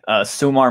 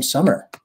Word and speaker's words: Sumar: Sumar Mesa, is that how you say your name? Actually, she pronounces her name Summer. Like, oh, Summer.